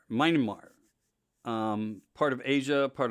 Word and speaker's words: Myanmar: help me so um to pronounce it right i think it's myanmar myanmar um part of asia